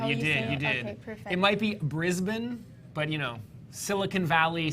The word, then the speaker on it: Brisbane: Australian yes exactly so she was fighting in Brisbane do I pronounce that right you did you did you did it might be Brisbane but you know Silicon Valley Silicon Valley tomato